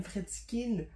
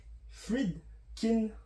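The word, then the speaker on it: Friedkin: de 1973 réalisé par William fredskin je pense qu'il y a pas de Fred il y a pas de Z ou de S c'est Fred Fred Kin en tout cas j'ai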